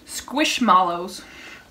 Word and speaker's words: Squishmallows: It's kind of funny because the company says, how do you say that, squishmallows, like marshmallows, so cute.